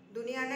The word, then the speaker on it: दुनिया: அது causes 7th one பாத்தீங்கன்னா दुनिया दुनियाனா உலகம் दुनियाனா என்ன அர்த்தம் உலகம் world दुनिया அது எப்படி உச்சரிக்கணும்னா दुनिया 8th one பாத்தீங்கன்னா निकट निकटனா என்ன